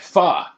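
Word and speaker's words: phở: There's an accent on the O.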